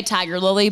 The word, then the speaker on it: Tigirlily: TIG girlly tiger ly you still say Tiger Lily but you put that girl in the middle and Brace that girl